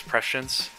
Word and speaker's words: Prescience: I had to look at the Google pronunciation after Ryan O'Malley commented on what it was, and he was right. It's Prescience.